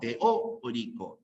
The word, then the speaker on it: teórico: eh la enciclopedia teoic la fuerza está en la o Teo orico bien ahí quizás nos engaña a veces por eso Teo oric bien tengan cuidado con eso la fuerza de voz está en la o teórico teórico tres casita muy